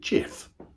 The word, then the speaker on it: gif: and over like a gif that's what gifts do right they're endless yes mom though some people pronounce it jif thank you higgins